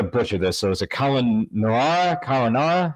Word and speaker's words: Cáelunárra: So is it Caelunarra? How do you say it? Oh, it's called The Shadow of Cáelunárra.